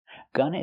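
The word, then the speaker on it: gonna: a lower grade you GNA Gunna is a reduction of going to so we need the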